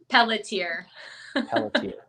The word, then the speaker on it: Pelletier: out her last name plediar wait hold on she's right there let me let me bring her back how do you say your last name pelletier see ya pelletier pelletier that's p-e-l-l-e-t-i-e-r